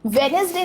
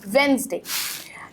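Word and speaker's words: Wednesday: बट यहाँ पे आपको NES का जो यूज़ है उसको साइलेंट रखना है और दिस इज़ वेडनेसडे, नेसडे। तो ज साउंड आ रहा है तो इसीलिए आपको इसकी प्रोनाउंसिएशन को थोड़ा सही से यूज़ करना है। वेडनेसडे नहीं है, इट्स वेंसडे।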